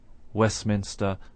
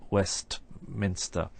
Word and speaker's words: Westminster: this in individual words if we take the word Postman for example the normal way of pronouncing Postman is with no to sound in the middle of course we can slow down our pronunciation and say Postman if we wish but normally we just say Postman similarly we say Westminster and not Westminster and this happens within